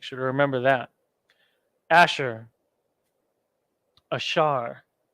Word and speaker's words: Asher: Columbia to Uruguay ashar there's your ah there's your sha and then your ra ashar join the Shah and the ra together again in the Assyrian